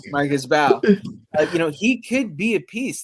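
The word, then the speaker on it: Mbow: Mbao? I keep forgetting if you pronounce the M or not. Yeah, he doesn't. Now I know. Marcus Bowe.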